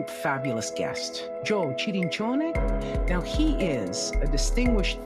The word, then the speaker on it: Cirincione: And we are welcoming Joe Cirincione. Joe, I'm pronouncing your name that in is Italian. Beautiful. That's exactly right. Giuseppe Cirincione.